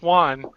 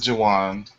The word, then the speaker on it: Juwan: I don't think you pronounce the J. I think it's pronounced Juan. No, his name is Juwan.